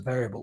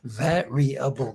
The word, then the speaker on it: variable: name there we go how many syllables a variable one two three four make sure I'm not saying variable with two or three syllables here varyable there's no rush got